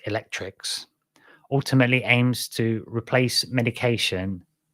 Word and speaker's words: ElecRx: The program called ElecRx, or ElecRx, pronounced Electrix, ultimately aims to replace